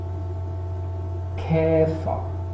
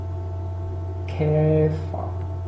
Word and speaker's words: Käfer: Käfer, Käfer. Significa escarabajo. La siguiente palabra pronunciada, se pronunciaría Käfig.